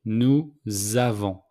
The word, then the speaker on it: nous avons: So, with the 3 pronouns plural, we make the liaison between nous and avons. So the S became a Z. Nous avons.